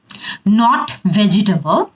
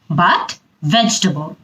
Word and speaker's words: vegetable: এরপরের শব্দ, শাকসবজি খাওয়া কিন্তু অনেক ভালো, কিন্তু এটার ইংরেজি উচ্চারণ কি জানেন? Not vegetable, but vegetable.